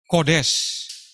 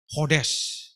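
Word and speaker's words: חודש: Perhatikan katanya, yaitu dalam penulisannya kita baca Kodes. Tapi dalam bahasa Ibrani membacanya tidak pakai K, tapi langsung H, Hodes.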